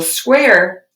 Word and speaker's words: square: Starts with a S and then a Qu. Square with a silent E on the end.